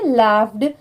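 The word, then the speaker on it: laughed: लाफ्ड अब जैसे देखिए एल ए यू जी एच इतना लाफ होता है लास्ट में यहां पर भी ई डी लग गया इसीलिए इसे हम क्या प्रोनाउंस कर रहे हैं लाफ्ड okay लाफ्ड एट हिम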